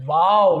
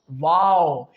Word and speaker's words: و: But, when we move towards the letter waw, which is the third letter pronounced from our lips, waw, it is totally different. How? Because when we pronounce the letter waw, our both lips get rounded.